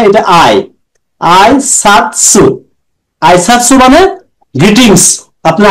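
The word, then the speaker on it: 挨拶: এটা আই, আই সাতসু।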